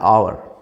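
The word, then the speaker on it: hour: orange करेंगे next देखिए कुछ एच से शुरू होते हैं लेकिन साउंड जो है वह एच साइलेंट रहता है आवर he reached an आवर अलिर वह एक घंटे पहले पहुंचा आवर आवर एच नहीं बोला जाता अवर प्रिंसिपल इज एन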